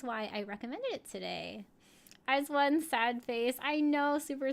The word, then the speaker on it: IZ*ONE: Air says, I have to be truthful, I never knew how to pronounce their group name. Yeah, a lot of people didn't know either. It is IZ*ONE.